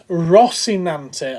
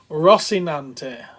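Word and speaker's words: Rocinante: That it's Rossinante. Okay, I was pronouncing it wrong. Thank you, Andy. Rossinante.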